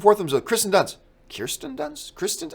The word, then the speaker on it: Kirsten Dunst: And he's saying Kristen Dunst. And then he just starts going back and forth with himself. Kristen Dunst. Kirsten Dunst?